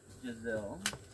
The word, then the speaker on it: Giselle: And it's Giselle. Kind of rhymes with gazelle.